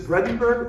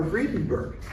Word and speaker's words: Vredenburg: Is it Vredenburg or Vredenburg? And he told me his name was Peter Vredenburg. Depends on what branch of the family you're in. So I'm safe pronouncing it either way.